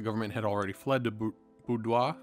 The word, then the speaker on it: Bordeaux: The government had already fled to Boudoir, I believe that's how it's pronounced, or Bordeaux, and was expecting Paris to fall.